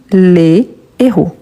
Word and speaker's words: héros: Si je parle de plusieurs héros, donc là je dis les héros. Ce qui change ici, c'est la prononciation de le plus fermé et les plus vert. Le les le héros les héros.